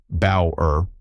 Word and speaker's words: Bower: In 1981, the American psychologist Gordon Bower, Bower, rhymes with flower, published a paper in American Psychologist called Mood and Memory.